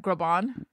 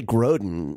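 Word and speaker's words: Groban: recording with Josh groin is that how you pronounce his name what or what groon or I want to say groden but is groin it's groin are you thinking of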